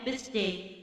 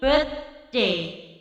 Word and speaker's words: birthday: Membacanya bukan happy birthday, nggak ada S di situ, ya. Bacanya bukan birthday, tetapi birthday. Jadi birth itu berakhir huruf, kalau kalian membaca huruf bahasa Arab itu dibaca ta, birth.